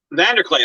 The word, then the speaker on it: Vanderkley: fan film guys is it vanderclee or vander clay vanna clay vander clay okay well i've been mispronouncing